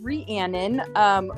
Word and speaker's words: Rhiannon: So it's Rhiannon, like Rhiannon. the Mac song.